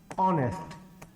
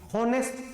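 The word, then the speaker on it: honest: क्या गिवन है अ ऑनेस्ट पहली बात तो बच्चों कोई भी इसको कभी भी नेस्ट नहीं बोलेगा एक साइलेंट होता है नेस्ट नहीं होगा ऑनेस्ट होगा ऑनेस्ट ऑनर ऑनरेडी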